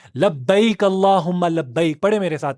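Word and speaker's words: لبيك اللهم لبيك: लोग ये ना लबक अल्लाह हुमा लब्बक पढ़ रहे होते हैं।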